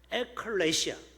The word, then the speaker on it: 에클레시아: 에클레시아. 발음을 잘해야 돼요. 에클레시아.